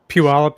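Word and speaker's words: Puyallup: Puallup.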